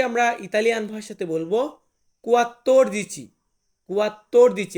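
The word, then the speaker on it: quattordici: আমরা ইতালিয়ান ভাষাতে বলব কুয়াত্তর দিচি কুয়াত্তর দিচি এটা কিন্তু কুয়াত্র দিচি হবে না এটা হবে কুয়াত্তর দিচি মানে 14 দেন আছে 15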